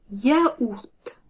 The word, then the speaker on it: yaourt: Yaourt. Yaourt. Comme ce mot n'est pas français, on prononce légèrement le T à la fin.